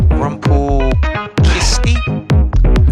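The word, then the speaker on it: Rumpelkiste: Rumpelkisti? Rumpelkisti, R-U-M-P-E-L-K-I-S-T-E. Rumpelkist. Rumpelkist. Yeah, I'd imagine it's Rumpelkist, but I may be wrong.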